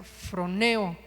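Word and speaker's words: φρονέω: Eso también, esa palabra viene también del griego que que se pronuncia froneo y significa ejercitar la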